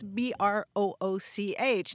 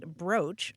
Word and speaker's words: brooch: how do you pronounce Brooch? Now I'm completely confused. It turns out that most dictionaries will tell you it's pronounced broach, although some do countenance the pronunciation brooch.